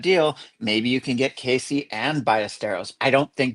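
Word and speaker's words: Caissie: I always say Cassie. Casey. Yeah, I pretty sure it's pronounced Casey. I always hear it referenced by Cubs fans as Casey.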